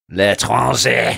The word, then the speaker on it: L'Étranger: Well, as the resident atheistic scum, I'm going to give them the L'Estranger, or however you say, how do you say it? L'Étranger.